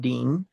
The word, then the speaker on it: din: Remember, din, D-I-N, din, pronounced Deen, D-E-E-N, is actually judgment in the English.